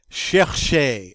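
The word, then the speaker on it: chercher: the next one is shershei i like it because it's got all those sounds in it chch cha cha it's very soft sounding verb and it means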